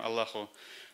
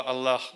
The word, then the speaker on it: Аллах: Даже есть стремление правильно произносить слово «Аллах», употребляя вместо русского «ха» в конце английское, латинское «h».